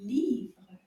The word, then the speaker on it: livre: The French word for book is un livre. Livre. And it's got a beautiful picture of a cat, un chat, on the cover. Livre. Can we clap that word? Livre. Livre. Livre. Just one syllable.